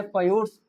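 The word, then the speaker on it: fjords: वो नॉर्वे को क्यों जाना जाता है, एक कहा जाता है इसका प्रोनाउंसिएशन है फयोर्ड्स, फयोर्ड्स के नाम से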